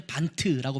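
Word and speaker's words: Bund: 근데 독일어는 이제 반트라고 발음하는데, 반트라는 모임을 갖기 시작하는데, 이 헤르누트와 또 모라비안 교도들에 대한 관심을 갖고 있었던 또 한 사람이 있었어요.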